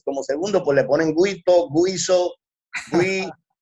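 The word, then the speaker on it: Güito: no colocaban W-I-T-O, sino G-U-I-T-O con la diéresis. Se supone que hubiera sido siempre así, G-U con diéresis, como se escribe, Guito, porque es como tragando, Guito, pero ya todo el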